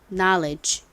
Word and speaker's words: knowledge: 잘 쓰셨는지 확인해 보겠습니다 먼저 가장 앞에는 KN이 오죠 여기서는 무음이 되고요 그다음에가 옵니다 지식이라는 단어에서는가 예외적으로 무슨 소리가 난다고요 아 소리가 나죠 자 그리고 리을 받침